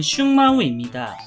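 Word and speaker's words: 熊猫: 판다는 중국 쓰촨성 일대에 서식하는 포유류 동물로 한자로는 웅묘, 중국식 발음은 슝마오입니다. 판다곰이라는 이름답게 곰과에 속하며 판다 속 대왕 판다종을 지칭합니다.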